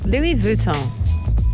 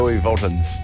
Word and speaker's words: Louis Vuitton: So, Louis Vuitton, as it's supposed to be pronounced. Louis Vuittons.